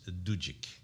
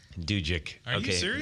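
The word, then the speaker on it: Dudzyk: what is I was corrected and his proper pronunciation is do Jake do Jake is that polish yes okay purebred all right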